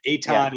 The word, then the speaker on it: Etan: jay and eton etan how do you say his name uh like a ton of bricks oh a ton of bricks okay etan and jay brooklyn based